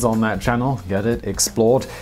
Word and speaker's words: XPLRD: channel that I run called Explored, which is spelled X-P-L-R-D because apparently I hate vowels.